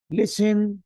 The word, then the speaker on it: listen: Listen. Shout. Listen. Shout. Listen. Shout. خطأ أقول listen. التي لا تنطق.